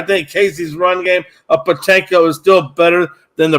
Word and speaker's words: Pacheco: Pronunciation is, I say Pacheco. It's Isaiah Pacheco.